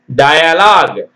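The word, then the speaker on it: dialogue: பார்த்தீங்கன்னா யூ ஈ க்கு ஒளி இல்லை சரிங்களா பார்ப்போம் டயலாக் டிஐ டை டய எல் ஓ ஜி டய lock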